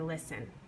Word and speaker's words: listen: double the consonant so listen to miss Cloud say listen listen listen the first syllable is not is stressed I say list a little louder and I put a little more emphasis on it so I don't double